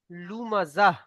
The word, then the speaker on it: لمزة: এটা সাকিন হয়ে হা হয়ে যাবে। হুমাজাতিল লুমাজাহ।